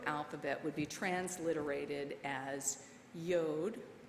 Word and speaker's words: yod: would be transliterated as yod rhymes with road which we transliterate as